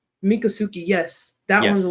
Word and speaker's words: Miccosukee: Seminole and the, I want to say this Miccosukee. right. Miccosukee, yes. That one's a Yes. little bit tougher for me to pronounce, Yes.